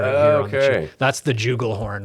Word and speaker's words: jugal: The Styracosaur actually has a juggle horn on its cheeks. Yeah, jugal horn. Jugal, yeah, there you go. yeah. I knew I was going to pronounce something wrong.